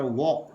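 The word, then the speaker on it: walk: Palm, LM, यहाँ एक जानकारी लें प्रोनाउंसिएशन संबंधी, अगर किसी वर्ड में LM अगर साथ साथ आता है, LM अगर साथ साथ आता है, उसी तरह L के साथ साथ आता है, तो ल की जो ध्वनि है वो साइलेंट रहेगी। जैसे इसको पाम पढ़ा जाएगा, उसी तरह वॉक, WAL के वॉक पढ़ा जाएगा, TAL के टॉक पढ़ा जाएगा।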